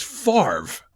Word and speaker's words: Favre: professor explain Brett Favre the V is before the r fa but it's Favre yeah there's no way